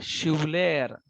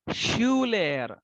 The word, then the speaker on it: Schüler: डेर Schuler. तो थोड़ा सा ट्विस्ट किया मैंने, यू को ट्विस्ट किया.